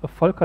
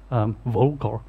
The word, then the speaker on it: Volker: yeah know very well my name is falca as you would pronounce it in german but it seems very difficult in particular also for english native speakers volkl that's most mostly what you get yeah i'm from gottingen